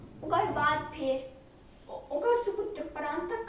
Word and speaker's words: परांतक: अहाँ सब सही प्रोनाउंसिएशन देख ले, परांतक पहिलुक।